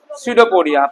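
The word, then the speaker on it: pseudopodia: False feet का हम नाम देते हैं सडोपोडिया। पी साइलेंट है। एस से पढ़ना शुरू करेंगे।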